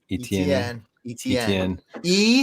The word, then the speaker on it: Etienne: I always say it wrong. Etienne. The letter E, the letter T, the letter N. That's how you.